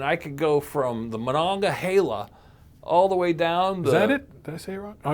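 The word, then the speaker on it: Monongahela: So in theory, I could get in the barrel and I could go from the Manonga Hala all the way down the Is that it?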